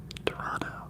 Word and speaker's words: Toronto: else you guys um Toronto oh we don't say the second T they pronounce it Toronto wait so it's a